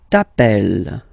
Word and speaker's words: t'appelles: All right, second form, tu t'appelles. Okay, remember, final s not pronounced.